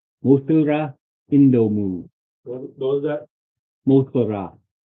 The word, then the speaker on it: Mosura: It wouldn't if I said it in the English pronunciation, which people always get wrong because it is not. That is, it is Mosura. The actual name is Mosura.